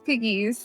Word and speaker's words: Pegues: the name of your so my one for one it's piggies i'm nice to